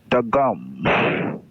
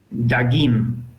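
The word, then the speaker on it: דגים: And the plural of dog is Dagam. dagim. Oh yeah, dagim.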